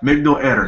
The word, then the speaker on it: Migdal Eder: revealed from the Migdol Eder, the Migdol, yeah, Migdol Eder, that's how you say it.